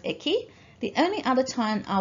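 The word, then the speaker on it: 駅: Okay, now this kanji is pretty straightforward, it's just pronounced eki.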